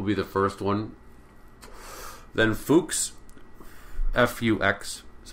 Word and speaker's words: Fux: Rameau will be the first one, then Fuchs, F-U-X is how it's spelled, and then C.P.E Bach.